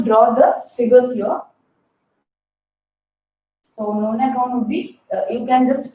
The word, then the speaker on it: nonagon: Nonagon. So the pronunciation for you would be easy to pronounce it as nanogon. You have got a car by name Nano. but it is not nanogon, it would be nonagon.